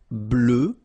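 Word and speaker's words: bleue: Bleu, bleu. So same thing that we had for noir, you just add this E at the end, but then you don't pronounce it.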